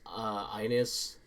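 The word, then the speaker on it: iNiS: So I think the only other thing is Ines, specifically. It's spelled like lowercase I, capital N, lowercase I,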